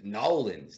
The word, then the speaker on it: New Orleans: Nolens.